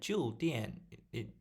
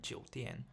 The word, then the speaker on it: 酒店: Anyway, so when he said 酒店, it sounds like old store, but it's not what he meant. He meant 酒店. So again, Ludwig got the pronunciation wrong here.